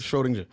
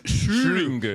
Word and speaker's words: Schrödinger: Schrodinger. Huh? Schrodinger. Schrodinger. Yeah. Close right? enough. And it has an umlaut over the O. Does, so yeah. it's Schrödinger. Schrödinger.